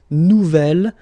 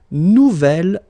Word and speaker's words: nouvel: J'aime mon nouvel ordinateur. Nouvelle, phonetically you pronounce it like the feminine version, but then you write it N-O-U-V-E-L.